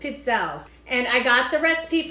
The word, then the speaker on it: Pizzelle: And it's pronounced Pizzelles, kind of like how you say pizza. I love you too. It's basically the first part of pizza with L at the end, so it's Pizzelles.